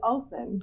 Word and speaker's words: Ohlsson: They're probably the only ones who can spell or pronounce my surname. Swedish interns. So, just for the record, what's your last name? It's Ohlsson.